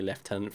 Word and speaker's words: lieutenant: and yeah we do we spell it exactly like that and yet we still say leftenant for some reason I don't